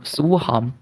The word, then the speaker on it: słucham: Yes, the first like this one, słucham.